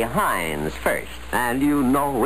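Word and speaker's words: Heinz: you'll love hind suf no matter how you pronounce it say Hines first and you know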